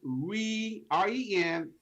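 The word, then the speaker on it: Renée: It's Renay. It's French, so double E's are pronounced as an A.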